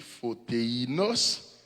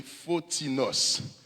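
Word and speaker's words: φωτεινός: a un autre mot qui écrit littéralement P-H-O-T-E-I-N-O-S, sous t'appelé littéralement, qui t'a prononcé photéinos, mais l'a prononcé phonétiquement parlant, pas oublier, n'a fait grec, il prononcé photinos. OK? Le E-I, il prononcé comme seulement I.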